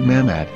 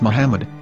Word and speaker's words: Muhammad: Ben yehuda's Hebrew English dictionary it is correctly pronounced as Muhammad not mammad so how we're going to know for sure if it's pronounced as Muhammad the Muslim Prophet or as mammad a random